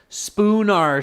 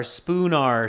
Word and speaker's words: Spoonar: Yes, it's spelled S-P-O-O-N-A-R, spoon, like the spoon. I don't know if there's an emoji for that, but like the spoon that we eat with, okay? And finishing with an A-R, Spoonar Street, okay.